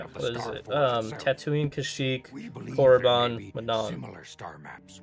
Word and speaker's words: Kashyyyk: It's Kashyyyk, bro.